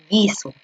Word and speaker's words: guiso: No se considera la U porque la U no se lee. Tú no lees guiso, tú lees guiso.